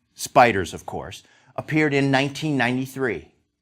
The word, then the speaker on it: SPDR: pores 500 depositary receipt these spdrs pronounced spiders of course appeared in